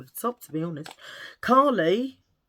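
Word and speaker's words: Kali: Callie. Call No. Callie. Callie. Like my daughter Callie, but it's spelled K A L I.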